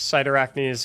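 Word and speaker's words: Cyrtarachne: this build is because we're going to use cider acne's facade which is how you pronounce it I promise whenever you grapple you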